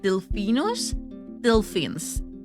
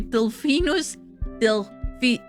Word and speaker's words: Delphinus delphis: So the short-billed common dolphin is called Delphinus delphins. Sorry, Delphinus delphis. Delphis. So yeah, it's a little trickery for me to actually pronounce, but it makes so much sense, and